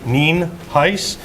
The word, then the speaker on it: Nienhuis: ninhais um it's spelled n-i-e-n-h-u-i-s and it's pronounced nien heiss we also have a couple individuals here that